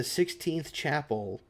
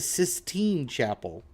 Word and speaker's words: Sistine Chapel: Can I request the 16th chapel, but with Chucky Chicken characters? No, because it's not the 16th chapel, it's the Sistine Chapel.